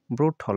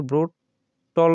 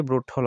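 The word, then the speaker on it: brutal: দেখো এখানে বলছে যে ব্রুটল এটা কিন্তু ব্রুট টল না হয়ে ব্রুটল হবে ক্রেকডাউন দ্যাট ফ্লোইড মার্ক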